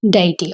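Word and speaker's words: deity: ये जो वर्ड है इसको हम लोग कैसे प्रोनाउंस करते हैं? डटी।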